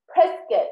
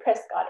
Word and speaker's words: Prescott: I signed up for a race in Pres- Prescott. That's how they say it. I used to say Prescott. It's Prescott, Arizona.